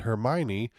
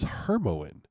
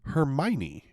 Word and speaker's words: Hermione: in my head as Hermione. How in the hell was I supposed to know it's Hermione? Like her, my knee. Her knee and my knee.